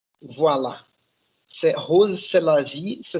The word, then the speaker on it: Rrose Sélavy: rose c'est la vie ça se prononce comme c'est la vie en français et en fait vous